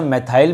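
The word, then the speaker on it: methyl: कौन सा ग्रुप था, मैथिल ग्रुप था, जिसे मैथाइल भी बोलते हैं।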